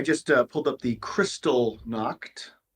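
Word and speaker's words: Kristallnacht: so I I just uh pulled up the crystal knocked it's not spelled the way I thought it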